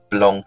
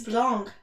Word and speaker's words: blanc: how you say it's blanc like you barely pronounce the c it's a lot of